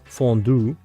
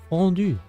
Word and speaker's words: fondue: Which you guys would pronounce fondue. Or something like this. But it's French, guys. Fondue.